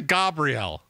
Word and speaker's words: Gabriel: that you're saying that Gabrielle I mean you're correcting yourself that's how it's pronounced but how what do you mean it's that's how it's pronounced that's how it's pronounced in Hebrew Gabrielle Gabriel we say